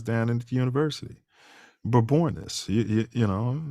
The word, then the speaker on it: Bourbonnais: it two years down in the University but born this you know it's not Bourbonnais that's that's the way the the pink people pronounced it so then we took suit took